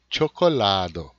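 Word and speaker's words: ĉokolado: Chocolado, cai no lá, né? Chocolado.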